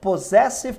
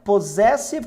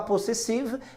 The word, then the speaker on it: possessive: Pronomes possessivos, cujo nome é Possessive Pronouns. E vale lembrar o seguinte, queridões, tá? Possessive com som de Z mesmo, tá? Não dá para falar possessive, infelizmente essa pronúncia não existe. É Possessive Pronouns.